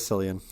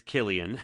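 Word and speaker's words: Cillian: see is that how you say his name Killian Killian wow not did not know that yeah everyone says cilian yeah I mean I thought it was Sicilian to be honest no uh no it's Killian I actually a girl I work with she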